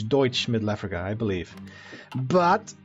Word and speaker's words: Deutsch: Kaiser I campaign as douche middle Africa Deutsch I keep pronouncing that wrong I apologize it's Deutsch Middle Africa I believe